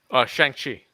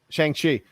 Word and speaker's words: Shang-Chi: Shang-Chi. Shang-Chi.